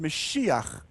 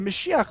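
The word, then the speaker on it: משיח: on the white donkey the word messiah in hebrew is pronounced mashiach the meshiach literally just means the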